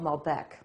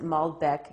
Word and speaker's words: Malbec: Hi, I'm going to tell you about a wine called Malbec. Sometimes people pronounce it Malbec. It depends on where you're from.